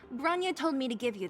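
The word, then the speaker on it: Bronya: What about Braa? Why isn't she here? I forgot it's pronounced Brana.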